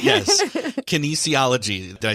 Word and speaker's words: kinesiology: Kinesiology. Yes. Kinesiology.